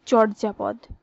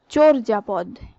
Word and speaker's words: চর্যাপদ: এটিকে আমরা জেনেই হোক বা না জেনেই হোক আমরা বেশিরভাগ সময় এটি বলে থাকি চর্যাপদ, কিন্তু চর্যাপদ এটি সঠিক উচ্চারণ নয়, সঠিক উচ্চারণ হবে চর্যাপদ।